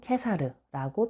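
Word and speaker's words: Caesar: 그런데 우리나라 책에는 키케로가 키케로, 로마 발음 치체로, 카이사르가 카이사르, 로마 발음으로는 케사르라고 표기되어 있는데 이 또한 위와 같은 사실과 관련이 있습니다.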